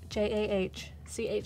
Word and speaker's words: Jahchan: So it's Jahchan. Chan. Chan. It's tough. I just recently learned how to spell it.